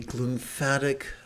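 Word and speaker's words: glymphatic: um called of the glump fatic uh system which rhymes with lymphatic system and it's very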